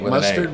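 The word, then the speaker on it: Mastard: Montreal it must start m-a-s-t-a-r-d like mustard mustard with a nice pronunciation yeah well okay I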